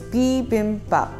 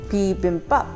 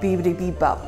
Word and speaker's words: bibimbap: So it's B like the bug, bim like a bimbo, bop like bob, but minus the P. So it's bibimbap, bibimbap, pretty simple.